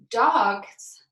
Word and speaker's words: dogs: an S but remember our dogs is also spoke with an S but it sounds like our Z sound okay so we're gonna